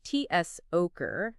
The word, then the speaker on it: Zucker: All right, let's start with Zucker, meaning sugar. It's pronounced T-S-Oker. Notice that sharp T-S sound at the beginning?